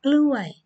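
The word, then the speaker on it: กล้วย: Even Thai people still cannot pronounce well, so you have to be careful that you really say glue eye, not something about cock.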